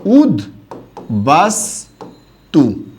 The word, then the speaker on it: উদ্বাস্তু: আর আমরা জানি তয় স্থানীয় দয়ের সাথে বফলার উচ্চারণ হয়, তাই এক্ষেত্রে এটার উচ্চারণটা কি হবে জানেন? উদ বাস তু, এটা হবে এটার সঠিক উচ্চারণ, উদ্বাস্তু।